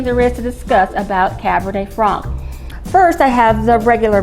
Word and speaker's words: Cabernet Franc: France and it's called Cabernet Fran it isn't pronounced Frank there's no K in it it's pronounced Cabernet Fran it's often uh substituted